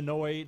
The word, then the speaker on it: Noid: So they were trying to avoid the noid.